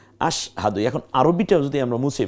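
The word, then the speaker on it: أشهد: এরও এককের মধ্যে ঢুকেছে এমন আশ না আশা হাহাদু না বরং আশ দেখুন এই যে স্বর নিচে একটা হসন্ত আশ হকে আকার দ এর রসুকার আশহাদু এখন আরবিটা যদি আমরা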